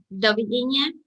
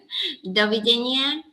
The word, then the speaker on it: dovidenia: How do you say goodbye in Slovakian? Dovidenia. Once again. Dovidenia. Dovidenia. No, super.